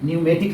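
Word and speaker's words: pneumatic: तो निमोनिया है, उसके बाद यहाँ भी P साइलेंट है, न्यूमेटिक लिखा हुआ है, निमोनिया बीमारी है, न्यूमेटिक मतलब होता है वायुशास्त्र होता है।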